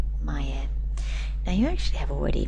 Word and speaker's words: 前: Here we're going to be using the Kun reading again. That's the Japanese reading. Mayer. That's how we're going to pronounce it. Maya.